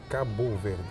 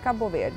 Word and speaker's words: Cabo Verde: In the Portuguese, we say Cabo Verde. Cabo Verde. Cabo Verde. But in English, we say Cape Verde.